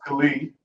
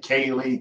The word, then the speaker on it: Khalid: So my name is Khalid. It's Khalid spelled Khalee. I get Kaylee, Kylie, Khalil, like so many different variations. Most commonly, people mispronounce my name Khalid, and it like aggravates me.